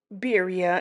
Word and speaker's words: birria: Okay y'all, so today we are cooking some birya tacos. Biria in English is how you will pronounce that. This is my take on it.